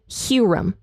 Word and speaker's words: Huram: and in the NLT they don't pronounce hyrum's name as hyam they call him hurum so hopefully that isn't